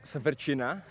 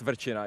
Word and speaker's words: Verchina: it should be pronounced it's verchina and i have to spell it every time someone's someone asks my name so yeah it's verchina it's very very difficult to pronounce yeah okay but i